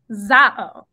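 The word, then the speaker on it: ζάω: Zao. Okay, so it says we pronounce this word zao.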